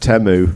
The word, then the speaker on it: Temu: them yeah you got it from Texas it's pronounced temu no it was an Amazon one by the